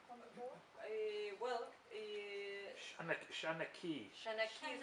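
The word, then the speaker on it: seanchaí: Shanaki, thank you. That's the pronunciation.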